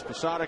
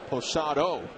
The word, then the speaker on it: Posada: Posada came in to pinch run for Wade Boggs. And then a rare gaffe, Shepard pronounced Jorge's last name Posado instead of Posada.